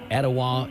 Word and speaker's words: Etowah: expires I'm dwane from Cleveland Tennessee and it's pronounced Ocoee Etowah and hawasi Adam Denver asoe hawasi itoa Jamie